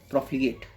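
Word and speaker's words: profligate: प्रोफिगेट।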